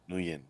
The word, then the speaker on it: Nguyen: confirming that the last name is pronounced. You said Nguyen, right? Nguyen, Yeah, yes.